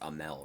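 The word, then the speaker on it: Amell: I kept saying Arnell. I think it's Amel, right? I always fucking see it this way and think it's RN. It's a fucking M.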